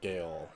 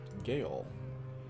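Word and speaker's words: gaol: So perhaps at one time it was pronounced Gale. I swear I watched a... watched a movie. I was starring Stephen Fry, actually. He played Oscar Wilde, and I swear in that movie they pronounced it Gale.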